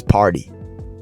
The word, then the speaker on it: party: It's not party. That's not the American accent. The American accent in most word in most cases the T becomes a D. So party becomes party. The pronunciation is party.